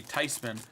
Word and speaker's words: Theismann: Thiesman. That's how you say it. Thiesman. It's actually Theismann, because it's Daniel Theis. Theismann.